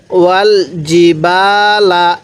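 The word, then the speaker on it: والجبال: আরহা তাহলে কি পড়লাম ওয়াল জিবালা এই জিমটা একটু শক্ত করে উচ্চারণ করব তাহলে জিমটা সহি উচ্চারণ হবে জিবালা মাতালাকুমকুম তাহলে মাতালাকুম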